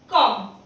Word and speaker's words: comb: जब भी B के पहले M आए, just like in कॉम, COMB, तो इसको हम कॉम्ब नहीं पढ़ेंगे, हम इसको सिर्फ कॉम्ब पढ़ेंगे।